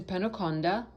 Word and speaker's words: Penukonda: spelled K-A-L-E-S-H-W-A-R, Kaleshwar, and his ashram is in Penukonda, which is spelled P-E-N-U-K-O-N-D-A, Penukonda, in Andhra Pradesh state in India.